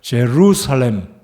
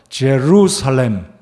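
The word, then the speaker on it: Jerusalem: 지금 세련되게 발음하겠어요. 제루살렘. 영어 발음입니다. 한 번 더. 제루살렘.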